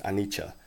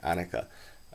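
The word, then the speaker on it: anicca: pali the word is anicha usually it's spelled a n i c c a i don't really like that spelling because it sounds looks more like annika uh that's orange ram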